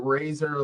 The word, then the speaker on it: Razzer: It's I like to pronounce it razor, like the razor that you cut your hair with.